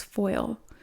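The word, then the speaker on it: faol: the uh the guidebook wolf pronounced in Celtic as foil keywords are intuition learning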